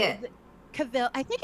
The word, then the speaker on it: Henry Cavill: Oh, Henry Cavalier? Oh yes, Cavill? it's that. How do you say it? Yeah, Say it. Cavill.